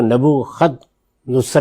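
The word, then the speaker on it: نبوکدنضر: بختہ نصر، اس نے حملہ کیا، کسی اور دین کے ماننے والے، جس کو نبو خد نصر بھی کہتے ہیں. تو دونوں تلفظ اس کے ٹھیک ہیں.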